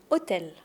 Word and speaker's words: hôtel: Mais on n'entend pas le H de hôtel. Ça c'est très important. Si tu prononces le H, c'est pas très grave. On va te comprendre mais on va tout de suite t'identifier comme un touriste. Et je sais que tu as envie d'avoir un bon accent. Donc hôtel.